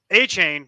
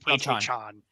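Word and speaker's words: Achane: A-Chain, who I believe he pronounces his name to be pronounced, he prefers his name to be pronounced A-Chan.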